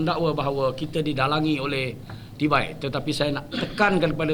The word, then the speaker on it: Tibai: Kalau saya sebut cintailah individu bernama Anwar Ibrahim, dia bermula dengan C. Bunyi dia dah lain. C-I-B-A-I.